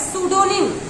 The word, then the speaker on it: pseudonym: तो जो होता है सूडोनिम इसको कहते हैं।